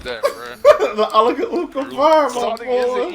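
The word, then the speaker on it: Allahu Akbar: It's Allah Akbar, alright? It's Allah Akbar, that's what I'm saying.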